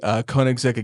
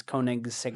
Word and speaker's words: Koenigsegg: Koenigsegg Agera RS, which was very cool. You pronounced it wrong. It's Koenigsegg.